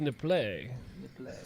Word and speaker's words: Nipples: It's pronounced nip-play. It's French.